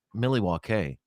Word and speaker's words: Milwaukee: And actually, JJ, it's pronounced Milwaukee, which is Algonquin for the good land.